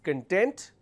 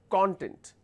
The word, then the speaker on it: content: So one is con, the second one is con, right?